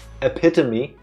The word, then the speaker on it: epitome: corrected on this so many times that it's pronounced epitome that I have just started saying it correctly